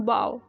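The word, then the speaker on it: bow: तो यहाँ पे होगा इसका प्रोनाउंसिएशन बाव, बी ओ डब्ल्यू, बाव.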